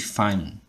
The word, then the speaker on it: Feynman: Por exemplo, aquela técnica de Feynman. Devo estar pronunciando esse nome errado aqui. Sim, Tarcísio, você está pronunciando a forma errada. A forma certa é técnica de Feynman.